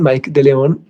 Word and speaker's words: Mike de León: E cine de Filipinas también, Lino Broca, La Díaz y ¿cómo se pronuncia? Mike de León o Micke de León. Mike de León.